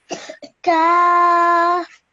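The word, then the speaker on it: كاف: Kaf. Okay, make sure you say kaf. Kaf.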